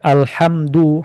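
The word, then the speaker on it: الحمد: Alhamdu hanya harus dibaca tipis karena artinya adalah pujian.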